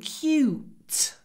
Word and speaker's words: cute: those ducklings are so cute when you say cute try to say cute then a little pause and then T cute so cute cute